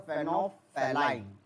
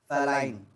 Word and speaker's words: phenolphthalein: We are going to pronounce it as the phenolphthalein. Phthalein.